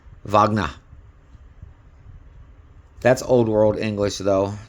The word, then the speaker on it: Wagner: don't pronounce it as Wagner. It's Wagner, double V. Yes, double V, not a double U. It's pronounced with a V. Wagner.